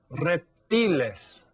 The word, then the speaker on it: reptiles: So that you can see that it's spelled exactly the same, but it's pronounced a little bit differently. Reptiles. Because remember, those vowel sounds are always pronounced the same in Spanish.